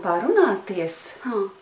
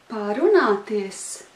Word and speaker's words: parunāties: Varam parunāties. Parunāties.